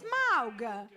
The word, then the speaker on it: Smaug: Smaug. But it's spelled S-M-A-A-U-G. Smaug. It's Smaug.